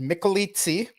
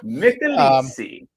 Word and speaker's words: Michelizzi: Well, it's pronounced Michelizzi, pure Italian. Michelob and pizza, combine them together. And, okay. So Michelizzi.